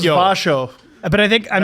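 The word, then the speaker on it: Växjö: You don't go Vax Joe. That's what we thought it was. I thought it was Vasho.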